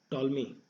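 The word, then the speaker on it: Ptolemy: ये प्रपोज किया था टॉलमी। ठीक है, प्लॉटमी, इसे पीस एक्चुअली साइलेंट है, टॉलमी अलेक्जेंडर।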